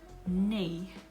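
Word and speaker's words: nej: which is pretty simple yes is yah and no is nay so yah oke nay oke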